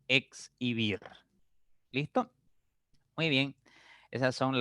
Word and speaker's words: exhibir: Cuando la letra X se encuentra entre la letra H o ante la letra H, se pronuncia como si fuese intervocálica. Aquí está. Exhalar, por ejemplo. ¿Ya? Exhalar. Exhalar. ¿Listo? Se pronuncia como si fuera intervocálica. Lo mismo pasa con exhibir.